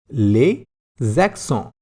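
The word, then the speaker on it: les accents: called as accents and in french we call them as lesson i am repeating the pronunciation once more les zakson all right lesaxo means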